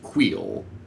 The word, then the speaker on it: Kuiil: I believe the correct pronunciation is Queel, if that helps.